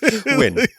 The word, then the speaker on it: Nguyen: how to pronounce that Njuyen last name, like Nguyen. Like I still can't pronounce it. Like win.